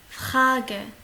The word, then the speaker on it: Frage: Frage. Attention, R il se prononce comme un KH.